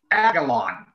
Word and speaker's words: Aguilian: But with his name, the way that his name is spelled, they pronounce it Aguilon.